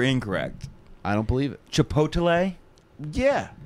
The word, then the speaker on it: chipotle: i don't believe it chipotle yeah like it's odelai at the end that's how i'm saying it chipotle no the mispronunciation is chipolte is it it sure is let me get a